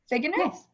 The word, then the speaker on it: Figgener: heard your last name was produced earlier uh pronounced earlier figuener fig enough perfect awesome okay just for life um dr